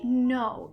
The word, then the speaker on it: know: We know y sabemos. Y vamos a parar aquí porque quiero hablar de este verbo know, porque tiene una K, pero la K no suena.